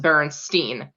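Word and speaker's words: Berenstain: corrected in class that you're you it is pronounced Berenstein because then there was a kid around my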